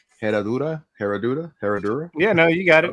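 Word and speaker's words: Herradura: Michael, correct me if I'm pronouncing wrong. Heroda. Heroda. Herodora. Yeah. No, you got it. Herodora.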